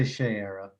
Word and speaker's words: Shayera: of her um and is it shayera or shiera i say shearer but i don't know i've never heard it pronounced i don't speak thingarian so i've never heard it i don't know how it's pronounced in the natural thanegarian but i say shayera so yeah well it looks like when he calls her shea in the book s-h-a-y would be shae to rhyme with trey rather than shy